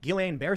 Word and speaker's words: Guillain-Barré: I will also say, however, to Charlie, Guillain-Barré syndrome, which I'm probably pronouncing wrong, it's a side I effect. always mispronounce it. Guillain-Barré.